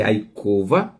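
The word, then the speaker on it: יעקב: O nome Jacó é a cova.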